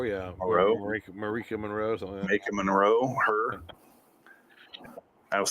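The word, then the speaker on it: Maika Monroe: Marika Monroe, yeah. Monroe? Marika Monroe.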